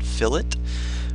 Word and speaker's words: fillet: how to create fill it's not pronounced fillet but fill it we're also going to